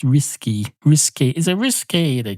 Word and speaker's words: risqué: You have to say risqué. I think it's R-I-S-K. R-I-S-K. Oh, feck. I've forgotten how to say the letter S. It's R-I-S-K-A-Y. That's how they say it, except they don't spell it out like that.